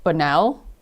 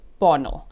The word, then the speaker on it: Bonnell: I think in my first part 1 I was saying Bonnell. That's how I would maybe pronounce it, but it's Bonnell.